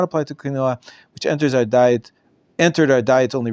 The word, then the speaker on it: quinoa: Quinoa. I'm saying quinoa. Is that the Israeli pronunciation? I know in America it's pronounced quinoa. Quinoa. In Hebrew, we call it quinoa. Yeah, quinoa.